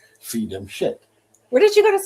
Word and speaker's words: scit: Fidem shit means she keeps the faith? Yeah, it's SCIT, but in Latin that's pronounced shit.